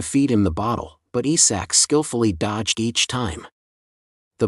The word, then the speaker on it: ISAC: often call him Lord Isaac instead of his real name ISAC it occurred to him that this was a mispronunciation of his name and when the gods